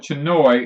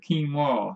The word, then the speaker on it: quinoa: quinoa yeah yeah cuz we used to call it Chinoy and they said it's not called to noise quinoa yeah we were not saying it right it's spelt c-h-i in